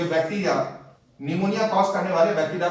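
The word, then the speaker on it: pneumoniae: Streptococcus निमोनी, P silent होता है।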